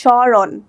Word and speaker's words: স্মরণ: এখানে জাস্ট উচ্চারণ হয়েছে সরণ।